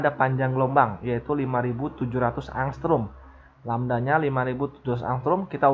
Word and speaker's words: angstrom: gelombang lamda = 5700 angstroms ini dibacanya angstrum ya Ini bacanya Yang from